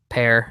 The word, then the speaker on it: Pierre: as our tour guide which is pear sorry sorry Logan God God knows it's even in his Twitter bio man it's he says pronounced and then as the pear emoji there well we had what